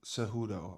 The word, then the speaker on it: Cejudo: back from retirement how do you say it seudo cejudo okay yeah okay um I have not been